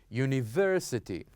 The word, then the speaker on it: university: The third syllable here we have university, university. This is the stress.